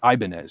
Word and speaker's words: Ibanez: No, they're Japanese and they pronounce it Ibanez, so it's the Ibanez Guitar Company.